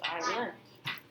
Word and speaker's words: island: okay wait it's spelled island but it's pronounced island this paper this one right here is